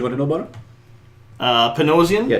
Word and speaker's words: Dan Panosian: Panosian? Yeah, Dan Panosian is how I would pronounce it anyway.